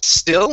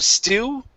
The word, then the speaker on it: still: All right, here, give me a good L sound at the end. Instead of stew, the word is still. Still. Okay, one more time. Curve your tongue upwards and touch the top of your mouth.